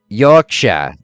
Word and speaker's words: Yorkshire: Yorkshire. That's how it's pronounced.